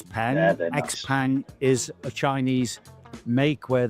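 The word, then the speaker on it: XPeng: How do you pronounce this? Xen Xpang.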